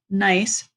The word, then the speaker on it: gneiss: That is a nice rock. And I was looking for something up on my wall, but it's not there. This rock has ribbon-like layers. It is nice, pronounced nice.